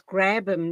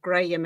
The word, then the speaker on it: Grabham: Your surname is Grabham, not Graham. Am I right? Yes, it's Grabham, but don't worry, a lot of people pronounce I, it I wrongly.